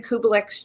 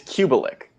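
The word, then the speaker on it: Kubelik: what is a fran kublex job in the apartment wow that's actually really close did i say that correctly yeah it it's it's it's cubilic people normally like drop the extra syllable in there fran cubelex job yeah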